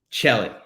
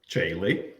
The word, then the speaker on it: Tcheilly: to mispronunciate his name it is the one and only chelly kelly welcome well thank you it's jaylee and we talked about